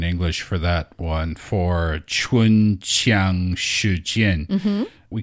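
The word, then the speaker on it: 唇枪舌剑: It is pronounced chun qiang she jian.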